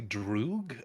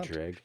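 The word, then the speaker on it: Dreugh: I usually used to say Drew. Uh but since playing Elder Scrolls Online where everything is voiced, they say Dreg. They say Dreg a lot.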